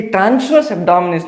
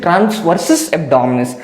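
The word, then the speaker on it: transversus abdominis: एब्डोमिनिस ट्स very important कुछ गलत pronounce करते हैं ये ट्रांसवर्स एब्डोमिनिस नहीं है this is ट्रांस वर्सस एब्डोमिनिस okay so ट्रांसवर्स एब्डोमिनिस के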